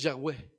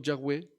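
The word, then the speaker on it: Yahvé: santifiquemos tu nombre ahí ellos admiten que tal vez yagüe es la mejor manera de pronunciar el nombre de Dios los Testigos de Jehová hay otra otro de sus escritos se llama traducción interlineal del reino de las escrituras griegas ahí Ellos dicen así nosotros nos inclinamos a ver la pronunciación yagüe Como la forma más correcta pero Nosotros hemos retenido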